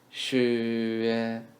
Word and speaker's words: 学: 学 as we've learned above, the u here is actually yu without hat. So we link xi, yu, and sound together in the second tone. 学学数学 math